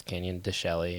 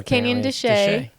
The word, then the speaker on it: Canyon de Chelly: Some people pronounce it as it sounds, Canyon de Chelly, and Yeah. But apparently it's Canyon de Chelly. So we'll go with that.